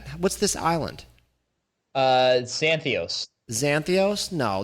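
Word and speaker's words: Zakynthos: this island uh santhos zanthos no there's a K in there Zach and it's it's a silent k because it's a Greek thing so I want to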